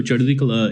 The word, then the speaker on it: Chardi Kala: So Chardi Kala is, and nice pronunciation, by the way. Well done. It has a letter in there that most Americans have never heard before.